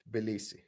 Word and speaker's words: Tbilisi: See? Tbilisi. T is not silent.